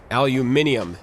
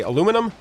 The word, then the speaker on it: aluminium: next for more aluminium aluminium is actually the official way to pronounce it now which bothers me because I'm American I'm from the US and so I want to say aluminum but the official I you pack name is aluminium so I I need